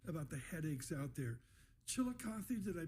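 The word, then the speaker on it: Chillicothe: Chilikothy, did I pronounce it right? You got it. Nailed it. Chilikothy, the 178y old paper mill just shut down.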